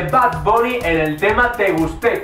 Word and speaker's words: Te Gusté: Bunny en el tema Te Gusté, con acento en la E, aunque en el título no lo lleva.